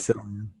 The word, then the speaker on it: Cillian: Cillian. Everyone always Sicilian. Yeah. everyone always Killian. says It's with a K, not a C. Well, it is with a C, but it sounds like a K.